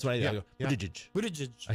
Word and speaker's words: Buttigieg: Buttigieg. That's what I Yeah, go. yeah. Buttigieg.